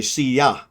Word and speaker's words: silla: But it's pronounced a little bit differently. It's actually siya.